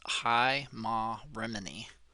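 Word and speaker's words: Heimarmene: it meant exactly and how to say it so it's high ma Remini and it's a goddess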